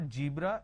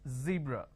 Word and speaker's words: zebra: jar it's a mispronunciation it's not jibra it's zebra it's not john it is zone it's not g it is zeal it's a z sound another mistake that people